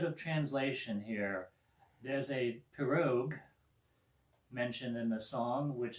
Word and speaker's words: pirogue: There's a pirogue mentioned in the song, which is a long, narrow canoe. Am I pronouncing that right? Pirogue? Yeah. Pirogue.